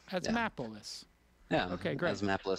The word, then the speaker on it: Asthmapolis: It says Asthmapolis, like Asthmapolis, a map. Asthmapolis. Like Minneapolis. Asthmapolis.